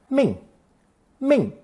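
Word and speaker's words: 命: fourth tone Ling Ling with the mouth added it becomes fourth tone Ming Ming actually we've met this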